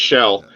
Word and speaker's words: Kjell: Is it Kel or Shell? I was gonna tell you the way you pronounce it is the first name sounds like a seashell. It's Shell.